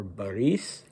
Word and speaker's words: Boris: today well we have Grand Duke Boris or Baris in the Russian pronunciation and his brother-in-law Vladimir